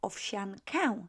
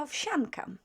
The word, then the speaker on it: owsiankę: Gotuję owsiankę. Gotuję owsiankę. Okay, slower and then quicker. Gotuję owsiankę. So owsiankę. The here becomes more like F, unvoiced F. So not owsiankę, but owsiankę. S-I-A is pronounced as sha.